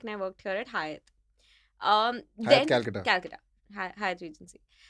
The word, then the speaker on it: Hyatt: I came back and I worked here at Hyatt. Hyatt Calcutta. Calcutta. Hyatt Regency. एक तो लोग हयात बोलते हैं. हाँ, it's not Hyatt. It's Hyatt. Hyatt. Hyatt. Hyatt or Hyatt.